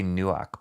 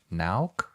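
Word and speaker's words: Nauck: I used to always say Nuak, but I know it's not spelled that way. So Nauk, when I was in the studio, I remember his work too.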